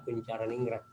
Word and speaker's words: Koentjaraningrat: yaitu pencemaran ningrat koentjaraningrat yang bacanya bukan penjara Jadi bukan bukan J koentjaraningrat tahun 83 meskipun tulisannya memang Paijan lama namanya pakai je Tapi bacanya koentjaraningrat Hai baik itu saja